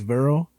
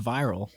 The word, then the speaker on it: virile: So if like a man is virile. How do you spell it? Virile. Virile. So virile. I've always. I thought that was pronounced viral.